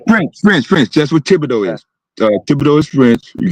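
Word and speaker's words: Thibodaux: Uh uh I mean uh town it's called Tibido. It's spelled t h i b. It's French.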